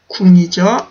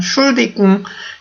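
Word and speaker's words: Entschuldigung: 엔트슐디궁이죠. 엔트슐디궁 이라고 하실 수도 있고요. 아니면은 요 엔트 부분을 발음을 안 하는 경우도 많아요. 엔트를 아예 없애버리고 그냥 슐디궁 이런 식으로도 말을 많이 걸거든요.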